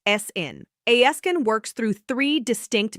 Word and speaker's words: aescin: The active compound is aescin, pronounced "essin".